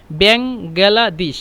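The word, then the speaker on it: Bangladesh: যে বাংলাদেশ শব্দটি বাংলাদেশ সবসময় চেষ্টা করবেন এভাবে বলতে ব্যাঙলাদিশ মানে একটু অন্যরকম ভাবে মানে ব্যাঙ গেলাদিশ এভাবে মানে অনেকেই অনেকেই মিশরে অনেকেই বাংলাদেশ উচ্চারণ করতে পারে না সহজে ওরা মানে কেমন উল্টাপাল্টা ব্যবহার করে কিন্তু যদি বলেন যে ব্যাঙ গেলাদিশ গেলাদিশ এভাবে তাহলে ওরা ভালোভাবে বুঝতে পারে তো আনামিন বাংলাদেশ আমি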